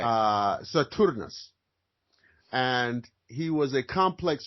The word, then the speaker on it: Saturnus: saturnus right saturnus Saturn the Latin the Latin pronunciation would be saturnus well there's a disillusion